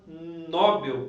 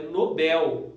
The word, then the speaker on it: Nobel: a palavra, o pessoal tem mania de falar Nobel, prêmio Nobel. Na verdade, pessoal, é Nobel, tá? O correto seria Nobel, tá? Prêmio Nobel da Paz, enfim.